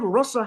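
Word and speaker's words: rasa: So in Sanskrit language there is a short a and a long a. So the word russa has a short a but when krishna does inela it is raas.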